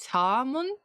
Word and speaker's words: salmon: It's easy, the L is silent, so it's just salmon.